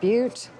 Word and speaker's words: Butte: I believe it's pronounced Butte.